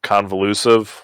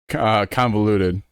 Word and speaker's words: convoluted: Kind of convolusive. What? How do you say it? Convoluted. Convoluted. Yeah, convoluted. That's okay.